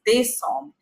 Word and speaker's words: Décembre: It's not December, it's Décembre. Like here we are saying November. November. E is A here, November. But here E becomes A. So it becomes Décembre.